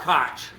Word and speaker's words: Koch: So whenever I see them anything, I call them cotch cuz that's the way it's pronounced in some places.